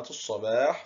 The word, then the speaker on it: الصباح: لاحظ معي، عندما دخلت اللام على كلمة الصباح في آل التعريف أصبحت الصباح، ولكن اللام هنا كتبت ولم تنطق، إذن فهي لام، أحسنت، لام شمسية.